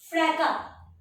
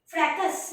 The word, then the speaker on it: fracas: Okay, FRACAS। Children ये एस दिख रहा है, पर जब प्रोनाउंस करोगे ना इसको साइलेंट रखना। फ्रैका, फ्रैकस नहीं, ये एस is silent, फ्रैका। Okay, what will you से? फ्रैका, एस साइलेंट हो जाता है।